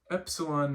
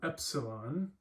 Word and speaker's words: epsilon: So this makes the sound eh, as in get, G-E-T, get, like that kind of sound. Epsilon, and the word we're going to use for this is ethnos.